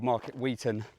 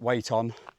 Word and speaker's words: Market Weighton: So, it is called Market Wheaton for those of you who are reading it. Wait on. It's um it's pronounced differently up north.